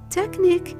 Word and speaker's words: technique: Same thing happens with the letter Q. If it's followed by U and E, the U becomes silent and the whole combination Q-U-E turns into a K sound like in technique and plaque.